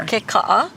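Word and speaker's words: Puʻu Kekaʻa: Pu'ukeka'a. Yeah, so pu'u, which is our word for like a hill or mound, and keka'a. Pu'ukeka'a.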